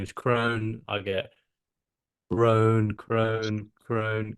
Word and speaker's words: Krohn: the exact same but my second name is Crone I get Crone Crone Crone all sorts